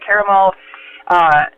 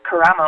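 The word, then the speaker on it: Karamo: So I know that, for example, my good friend Christina Caramel is, which I think I just totally slaughtered her last name, Caramo, I believe is actually how you say it, but she's running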